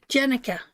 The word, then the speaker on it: Jenica: How do you say her name, Rob? Jenica. Jenica. That was for Jenica.